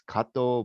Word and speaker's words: Kato: as k kato but let's pronounce it the right way it's in japanese it's kato but in the philippines